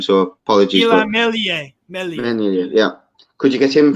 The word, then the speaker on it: Meslier: I struggle to pronounce his name, so apologies. Meslier.